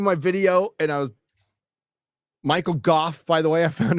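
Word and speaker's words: Michael Gough: I was doing my video and I was Michael Goff, by the way.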